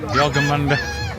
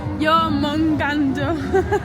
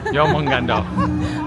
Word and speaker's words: Jormungandr: Yeah, they've changed the buffalo to a Jorgenmunder. Whatever one of them is. No, I wasn't even saying it right. It's your mung. Jormungandr. Jormungandr.